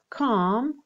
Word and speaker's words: calm: Agitated, calm. Okay, l is not pronounced.